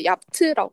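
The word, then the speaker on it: yaptı: 음, 그러니까 보통 야프트라고 하지 않고 이제 얍트라고 하거든요. 얍트.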